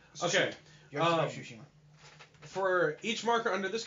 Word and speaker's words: Tsushima: Yoshiko, I can never pronounce her last name. Tsushima. Okay. Tsushima.